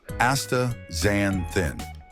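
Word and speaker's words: astaxanthin: A taxacenthin, pronounced aa xanthin.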